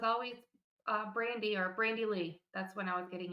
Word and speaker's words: Lei: Brandy no middle name oh yeah it's Lee how do you spell that l e i not the not the